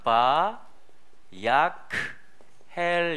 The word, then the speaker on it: ויקהל: 그래서 이걸 계속 읽으면 이어서 읽으면 봐 아 이 약 헬 이라고 읽어줍니다 뭐 읽어보겠습니다 바 약해